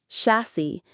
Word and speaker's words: chassis: Chassis. The IPA is chassis in the UK or chassis in the US. The final S isn't a distinct S sound. The S sounds like E.